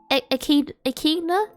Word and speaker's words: echidna: Echidna? Echna? Hold on. Echidna? Pronunciation. Echidna. Echidna. Why is it pronounced like that?